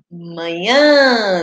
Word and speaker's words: manhã: é manha ou manhã manhã né é uma palavra o que amanhã a última sílaba mais forte né O Ian então